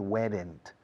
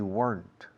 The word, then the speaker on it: weren't: Recordad, no se dice weren't. We weren't. Una sola sílaba.